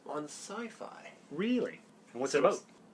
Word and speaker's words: Syfy: will be shown on sci-fi or sippy if you want to say it the way it's spelt in the US but it'll be on